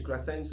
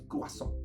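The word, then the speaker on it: croissant: craso is another you we call it in English cens or something like that but in the French word is cuaso that's how you pronounce craso are like buty clouds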